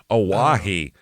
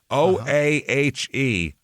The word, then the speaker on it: Oahe: We have the, how do you pronounce this? I wrote it down. Oahe. Oahe.